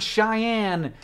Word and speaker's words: Cheyenne: And CGP Grey asked how in the world the word Cheyenne, this word, is pronounced like a girl named Anne who doesn't talk very much.